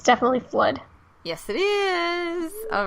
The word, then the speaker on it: FLUDD: It's definitely Flood. Yes, it is. All right. And it's spelled so like FLUDD, I think.